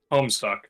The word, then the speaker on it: Homestuck: No, it rhymes with Rome sucks. Just say it. Homestuck.